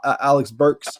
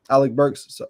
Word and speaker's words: Alec Burks: Alex Burks. Alex Burks. Yep, Alec Burks.